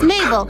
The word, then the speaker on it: Mabel: My name is Mabel. It rhymes with table.